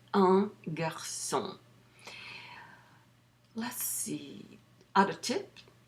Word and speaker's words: un: Don't pronounce it un. Don't say un garçon. Say un garçon.